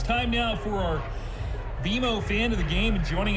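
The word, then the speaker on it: BMO: when you do I bet you'll call us BM o don't worry it's more common than you think but we actually pronounce it beo as in with beo you can earn a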